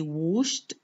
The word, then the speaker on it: washed: The ed ending is pronounced t. We say washed because it comes after the sh sound in, the sh sound, which is represented by sh.